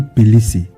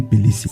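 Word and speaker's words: Peleset: La prononciation est Pélécé, mais à l'époque très reculée. Ça s'écrivait avec T en Égypte, mais qui se lisait Pélécé.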